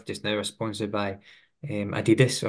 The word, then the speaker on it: Adidas: So currently the group I work with just now are sponsored by Adidas or Adidas to pronounce it correctly.